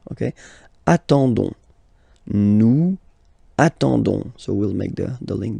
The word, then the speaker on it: nous attendons: You don't pronounce the S, so you get only this on sound, okay? Attendons, nous attendons, so we'll make the link between the two, la liaison.